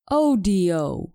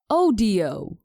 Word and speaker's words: audio: 35 I'll start with the word audio we pronounce this word like this oh do I've noticed that Spanish speakers pronounce it just